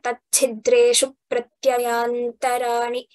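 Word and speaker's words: तच्छिद्रेषु प्रत्ययान्तराणि: for all of us, whenever we get dra, pra, tya, such conjunct letters, we stress on the first letter. So here, tachidreshu pratyayantarani is how we have to tell that.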